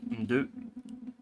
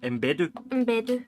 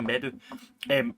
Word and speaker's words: Mbedu: Is it Thuso Mdu? What did you say her name? Mbedu. Thuso Mbedu.